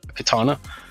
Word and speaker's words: Katana: Store just search up katana and you'll see us from there or you can visit our website at katana MRP com a katana is spelt with a K so it's K 80 and a yes over in the